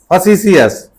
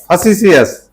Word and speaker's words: facetious: इसका उच्चारण क्या हो जाएगा? फसीसियस क्या हो जाएगा? facetious, फसीसियस।